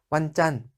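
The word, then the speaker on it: วันจันทร์: 붙여야 붙여 된다 이렇게 완 을 붙여서 완 짠 완 잔 하셔야 월요일이 됩니다 4 그리고 화요일과 보기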